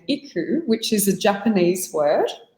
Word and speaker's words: iKOU: we chose the name iku which is a japanese word the japanese would actually pronounce it ikol but for us in australia we call it iku and it means to